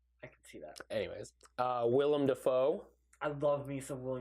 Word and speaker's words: Willem: Anyways, Willem Dafoe. I love me some William. Love Willem Dafoe. Willem Dafoe. I'm saying William. This will be the episode where I mispronounce it.